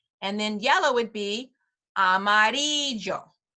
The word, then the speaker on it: Amarillo: funny because we know there's a town in Texas called it's Amarillo Texas right have we heard of that town I think that's how people pronounce it but I look at it I'm like that's really supposed to be Amarillo but okay um that's what they've decided to call it Amarillo Texas but with the real Spanish pronunciation it's Amarillo okay it's me llamo Amarillo